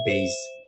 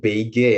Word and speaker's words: beige: Jadi beige, itu bacanya beige. Gitu ya. Bukan beige ya, tapi beige.